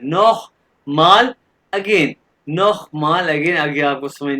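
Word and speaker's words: noch mal: और ये जो वर्ड है ये है नोह माल, मैंने बताया था सी है जहां भी आएगा ये खे की आवाज है। नोह माल अगेन, नोह माल अगेन।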